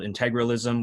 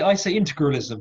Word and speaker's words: integralism: But I say integralism, but that may just be the bad English custom of stressing polysyllables very early, so you end up swallowing lots of the following syllables.